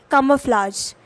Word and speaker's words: camouflage: First word है camouflage। कोई चीज़ या किसी ने खुद को camouflaged कर रखा है तो उसका क्या मतलब है। सबसे पहले प्रोनाउंसिएशन CAM बोलिए, फिर आ बोलिए, फिर फ्लाज बोल दीजिए।